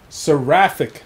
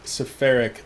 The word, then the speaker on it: Seraphic: bit dyslexic so yeah saric Nexus not spheric Nexus saraf like a Seraph H makes a lot